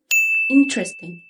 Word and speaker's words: interesting: اوكي، number 2 interesting. interesting. هنا الستريس او الضغط اللي متك على الكلمة في اول مقطع اللي هو الاي ان، تبقى interesting. interesting.